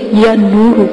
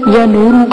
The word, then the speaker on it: یا نور روح: یا زبر یا، نون پیش وا نور، را پیش روح، یا نور روح.